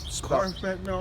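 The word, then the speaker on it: carfentanil: Car fentanyl? Car, like a regular Full car, C-A-R, but it's spelled with a K, okay?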